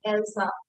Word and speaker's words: Elsa: See, this the spelling is of else. If else was spelling same thing यहाँ पर, लेकिन Elsa इसको pronounce करते हैं, ठीक है? Because it is a name, so it can have a different pronunciation.